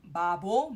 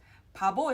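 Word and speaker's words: 바보: b the first part the first B is actually a p sound whereas the second one is a b it's not bubble but Pabo is a fool next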